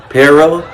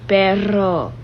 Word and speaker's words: perro: What is it? Perro? And she says, no, Daddy, that's not how you say it. So she hit me with this. Daddy, say perro. And I can't say my R's like that.